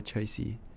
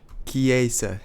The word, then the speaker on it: Chiesa: Rome expected results, and that is what Dalla Chelsea. I'm gonna look up how to pronounce his name. 1 second. Chiesa is how you say his name.